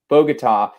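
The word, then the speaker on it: Bogotá: guess they pronounced it it's bogota in colombia but pagoda we called it in germany that's right yeah it's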